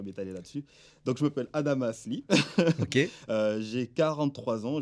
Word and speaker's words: Adamas: Il y avait le commandant Adama Lee, donc moi c'est Adamas, le S se prononce, hein. C'était le commandant du cuirassé, hein. Donc je ne vais pas m'étaler là-dessus. Donc je m'appelle Adamas Lee.